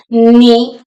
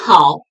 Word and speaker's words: 你好: Ni, ni is pronounced with the third tone, low and then rising.